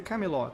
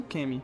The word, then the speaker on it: Camelot: Sin elogia sua determinação, mas diz a ele que se pronuncia Camelot, não Kemi, seja lá o que Percy disse.